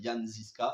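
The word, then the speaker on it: Jan Žižka: films médiéval le film le titre original c'est yaniska ça s'écrit Jean zisca en France a été renommé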